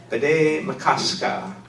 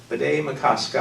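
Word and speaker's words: Bde Maka Ska: It's a Dakota word, B'day Makaska. B'day Makaska.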